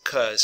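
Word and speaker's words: 'cause: a lot of times they don't actually say because they say CZ and they pronounce it cuz so I've put the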